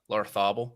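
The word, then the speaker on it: Larrazábal: At last, because the guy who won, the Spanish guy who won last week, Larthabal, is that how you pronounce his name?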